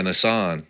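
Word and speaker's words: Nisan: right doc how do you say it yeah Nissan Nissan yeah Nissan right Nissan 11th throughout history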